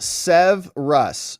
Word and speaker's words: Saihbreas: This one is pronounced Sev Russ. It's pronounced Sev Russ. Baby's about to pop. Heck yeah, Sev Russ. Oh my goodness. So that one's going to be a tough one for me to remember. Sometimes I can remember these, but yours is not even spelled at all like it sounds.